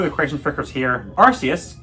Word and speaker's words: Arceus: Arceus, the pronunciation was used officially, so shut up.